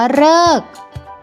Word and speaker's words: ฤกษ์: อีก น้อ ตฤณ ส่วน คำ ที่ ตัว รึ ออก เสียง เรอ ก็ มี เพียง คำ เดียว นะ คะ นั่น ก็ คือ คำ ว่า ฤกษ์ นั่น เอง ถ้า ซึ่ง